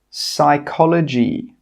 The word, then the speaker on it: psychology: Some example words are pneumonia, psychology, pterodactyl. In all of these words, we are not pronouncing the P. It is silent.